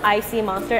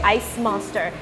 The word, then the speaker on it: ICMonster: those two together so you can pronounce icy monster as literally the icy monster or you can say ice monster so it can tell the both ways it's not really inspire